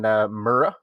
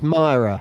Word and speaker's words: Myra: the church there in Murrah. Am I pronouncing that right, guys? Help me out. I think it's Myra from everything Myra?